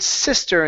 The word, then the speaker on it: sister: Let's go to the word sister instead of sister. Okay, use a short I here.